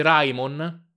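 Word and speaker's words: Raimon: Sai perché si legge Rayon? Ora ve lo spiegherò una volta per tutte. R A I M O N. Rayon. I caratteri giapponesi vanno letti come sono scritti, ad eccezione della U che si legge come S. Solo in questo caso la lettura non corrisponde alla scrittura.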